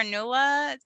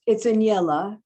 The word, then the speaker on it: Aniela: the chat, and it's, pardon me if I pronounce this wrong. The character Nula plays a central role in the novel. Does she remind you of anyone you know, or is she completely fictional? It's Aniela.